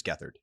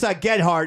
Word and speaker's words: Gethard: Chris Gethard.